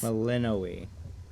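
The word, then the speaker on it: Melinoë: Meleninoi. So much she could have taught you. How do you pronounce her name? Melano. Compare us. Meleninoi.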